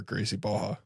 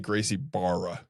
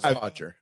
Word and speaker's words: Gracie Barra: It's Is like, it Gracie Barra or Gracie Baja? Definitely Gracie Barra. And you have to really pronounce it Bar. Yeah, Barra. Hodger. I respect him. yeah. Yeah, it's Hodger.